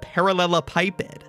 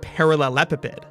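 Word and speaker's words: parallelepiped: look at turns out most agree on the pronunciation of parallela pipid though I've also heard parallel epid personally I'm on team parallel a pipid it's just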